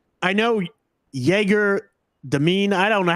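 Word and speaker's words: Dëmin: Like, I know Jaeger, Demine, I don't know how to. I think the broadcast, they pronounced it Doman. Like, that's how it's supposed to be pronounced.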